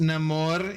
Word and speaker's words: Namor: It's pronounced Namore in this game.